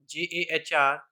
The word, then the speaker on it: Jahr: And I'm telling you that the sound of Jahr is like yar.